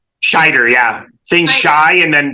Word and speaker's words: Scheider: Roy Schneider was schne am I mispronouncing shider shider shider yeah shider yeah think Shy and